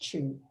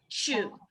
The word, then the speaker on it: Chiu: My last name is pronounced Chiu. Chiu.